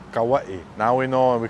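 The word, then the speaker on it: Kauaʻi: Elementary or Kapa'a High School, we all said Kauai, that's why. But that's not why. We don't know that's why. We've been pronouncing the word however we like, but the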